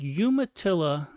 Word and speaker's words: Umatilla: a book signing at Umatilla now see I said Umatilla because that's the correct way to say it Duke yumaa uh Public